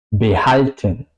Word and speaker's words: behalten: Behalten. Behalten. Pues la H es al principio de la segunda sílaba, por eso behalten, ¿ok?